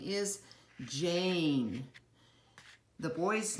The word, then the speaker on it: Jane: the first one is a silent e word so the girl's name is Jane I know you some of you were reading it as Jan but remember the e doesn't make a sound but tells the a